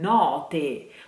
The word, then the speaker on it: note: But if you want to make the difference in pronunciation between notte, which means night, and note, which means the note that you sing, you have to keep in mind that note, note has just one T, while notte has that suspense sound